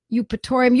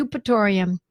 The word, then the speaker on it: Eupatorium: Eupatorium. Eupatorium is spelled E-U-P. I know it sounds like it's U-P. It's E-U-P, Eupatorium.